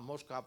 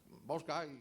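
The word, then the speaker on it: Москва: vino el nombre que unos llamaban mosca por Moscú mosca como lo pronuncian rusos pero seamos ratas porque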